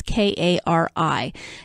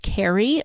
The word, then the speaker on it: Kari: It may be Kari Sutherland because it's K-A-R-I. Generally speaking, when you see that name, it's pronounced Kari most of the time, but I grew up